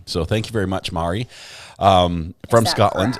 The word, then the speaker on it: Mari: um but she says my name is pronounced ma with emphasis on the a like ba re Mari it's Gaelic for Mary just Mari from Scotland